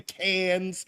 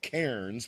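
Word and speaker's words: Cairns: For me, it's Thursday morning about to go catch my flight from Sydney up to Canes. Uh I would call it Kairens, but they said don't do that, Larry.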